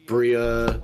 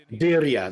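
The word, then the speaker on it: birria: Uh recently we've gotten a uh a uh I always say it wrong. The Bria Bria tacos. Bria. Biria. Bria. Yeah, they are. Biria. There we go.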